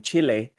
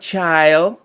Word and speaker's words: Chile: or with the canals with the correct uh pronunciation Chile uh approves the Microsoft Activision Blizzard acquisition not child all right it's Chile or Chile one of